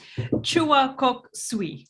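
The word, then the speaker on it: Choa Kok Sui: Chua Kok Sui. Did I say that right? Yes. Yeah, very good.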